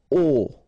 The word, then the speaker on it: aux: Okay, so you can see that here you combine a plus les, and you will get this AUX, okay, and then phonetically you produce it or you pronounce it O.